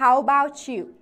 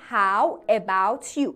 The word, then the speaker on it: how about you: چطور، how about you، ولی نگاه کن من چجوری تلفظ میکنم، How about you، How about you، انگار که about و you رو به هم چسبوندم شده یک کلمه، T و Y کنار